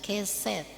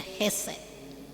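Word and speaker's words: חסד: setia dalam bahasa Ibrani digunakan kata heset kalau kita mungkin membacanya kadang-kadang kita membaca keset Padahal dia heset jadi heset bisa orang baca keset jadi Kasih setia jadi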